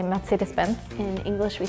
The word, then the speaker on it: Mercedes-Benz: In Germany, we say Mercedes-Benz. In English, we say Mercedes-Benz. In Sweden, we say Mercedes-Benz. In Spain, we say MercedesBenz. In Italian, we say merced Benz.